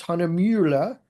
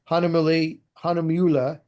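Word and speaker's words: Hahnemühle: The brand is Hanamula, and as an American, I'm gonna mess up the pronunciation. I really enjoy it when I have German speaking people in my classes because they can handle the U with the umlaut much better than us Americans can. But the way I remember how to say it, it's Hanamula.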